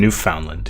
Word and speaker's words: Newfoundland: Newfoundland, yeah. Or Newfoundland, yeah. Is it Newfoundland? I've always called it Newfoundland. It's Newfoundland, but if you slow it down, it's Newfoundland.